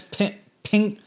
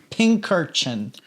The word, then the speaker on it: Pincurchin: So it's pincurchin. Pincurchin.